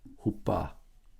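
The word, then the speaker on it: ὑπό: rough breathing so it's we pronounce that with the H in English ho it takes two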